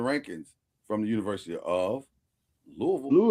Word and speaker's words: Louisville: Shout out everybody that calls it Louisville. City. We'll come to your city. Messing up the name. Louisville. Okay. Well, why they say Louisville Slugger? Because they say it wrong.